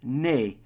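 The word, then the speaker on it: née: is the in English in French it's basically the same nay and basically means born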